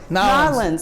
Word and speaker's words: New Orleans: Landrieu of New Orleans how do you say no New Orleans that's how the no islands now how they that's how they say it cuz he gets mad